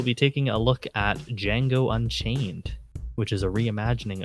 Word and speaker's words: Django: So we'll be taking a look at Django Unchained, which is a reimagining of the 1960s Django Western series as well. The D is silent.